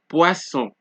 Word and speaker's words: poisson: Okay, the double S is also pronounced like S. So when you see two S's, just know you're going to get an S sound. Example, poisson, poisson, chasser, agressif, agressif.